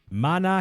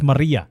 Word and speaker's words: Maria: It's Maria. Yeah, Okay, Maria. it looked like an N, but it's Maria.